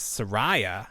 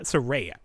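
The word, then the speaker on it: Saraya: who is known as Sarah or serea serea that's how you say it so her first aw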